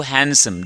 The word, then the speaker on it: हैंडसम: हैंडसम नहीं है बाबू हैंडसम D silent होता है यू आर राइट टू